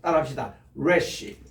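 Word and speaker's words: ריש: 요거 이게 베이스 달지 않고 요렇게 내리는 것을 말하는데 요게 이제 R 발음이에요. 레시는 이게 뭐같이 생각하면 머리처럼 생겼죠. 머리. 그래서 이게 머리입니다. 원래 머리에서 이 단어가 나왔어요. 따라합시다. 레시.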